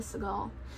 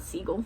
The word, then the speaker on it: Segal: Probably Segal. Not Seagull. It's not spelled like Seagull. It's Segal.